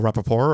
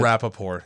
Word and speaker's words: Rapaport: about yeah I do how is his last name pronounced because it isn't how I pronounced it Rapaport you add a poor okay it's like trying